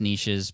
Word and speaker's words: niche: riches are in the I know it's pronounced niches but that doesn't rhyme